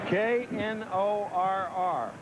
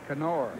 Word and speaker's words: Knorr: K-N-O-R-R. Knorr. Knorr. Steve Berger, is that the pronunciation on his name now? K-N? I think that's correct. That's correct. Yes.